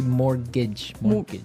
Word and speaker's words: mortgage: with a tee yeah it has a tee in it but you don't pronounce it you say mortgage so not mort's mortage